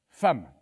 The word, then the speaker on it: femme: Un jour, l'instituteur nous a dit F-E-2-M-E se prononce femme. Mais j'ai dit à l'instituteur, il n'y a pas de A dans femme. Ah, bien vu, c'est exact. Mais c'est comme ça. Le E de femme se prononce A.